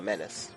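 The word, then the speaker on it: Minace: Yeah, it rhymes with, it's Grimace the Menace, just like Dennis the Menace, but it's, Menace.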